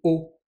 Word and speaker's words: を: elle est écrite la particule se prononce bien o mais le hilagana c'est o attention on nutilisera pas